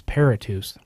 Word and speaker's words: Paratus: jump on the link the proper pronunciation of that is paratus Paratus go ahead and why don't